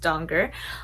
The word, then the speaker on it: Danger: And a little summary about this book is that the main character, Rico Donger, spelled danger but pronounced Donger, works at a gas station where a $100 million ticket goes unclaimed.